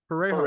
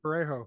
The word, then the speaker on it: parejo: Parejo. Thank you. Parejo. Is that what That's he's how you saying?